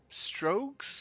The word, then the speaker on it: Strokes: Strokes? Is that how you would pronounce your name? That's exactly how you pronounce it.